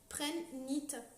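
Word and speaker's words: prehnite: Donc c'est pour ça que le H il est un peu bizarre dans le nom, parce que c'est le nom de l'inventeur, en fait, ça s'écrit P-R-E-H-N, parce que c'est Monsieur Prenne, Prenne-nite.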